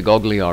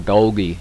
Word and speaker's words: Golgi: come up like that that's a goggly eye receptor or golgi receptor you can pronounce it that way too and in the muscles